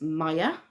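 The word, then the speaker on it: Maia: the few goddesses and this one is Maya or Maya m-i-a no m-a-i-a is how it's spelled I'll stick it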